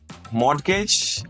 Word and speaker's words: mortgage: Did you just say mortgage and plumber? That is an Indian thing.